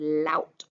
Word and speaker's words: laut: And I also underlined laut, that ow sound.